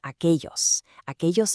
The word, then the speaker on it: aquellos: That double L sounds like a ya or soft J, depending on the region. So, aquel becomes aquellos edificios, those buildings way over there.